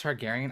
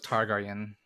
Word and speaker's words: Targaryen: first round on Villa it's pronounced Targaryen I don't watch Game of Thrones I always thought it was targarian no it's I mean